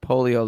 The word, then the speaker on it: Polio: He says says his last name is pronounced polio like the disease.